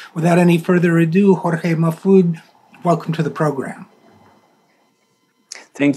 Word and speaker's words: Majfud: about my next guest his name is jorge mafude that's spelled m-a-j-f-u-d if you want to